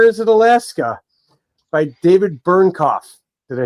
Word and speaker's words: Bernknopf: Another Planet, or is it Alaska, by David Bernknopf.